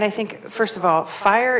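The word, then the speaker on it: FHIR: think first of all fire is going to fast healthcare interoperability resource spelled f-h-i-r it's like the new hipaa you got to spell it right right and so i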